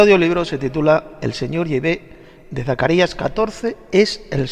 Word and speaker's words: Yahvé: Sin embargo, parece ser que la pronunciación correcta en hebreo arcaico es Yahvé.